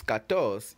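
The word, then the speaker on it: quatorze: e i z e TR 4 which is Kos is spelled q u a t o r z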